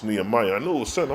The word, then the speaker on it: Nehemiah: Israel, book of Nehemiah. Let me see. Nehemiah. Thank you, Linda Beach. It's Nehemiah.